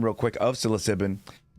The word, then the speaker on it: psilocybin: Lastly, on the translation, pronunciation real quick of psilocybin, scientific words are pronounced with a Greek translation, which means mostly short vowel sounds.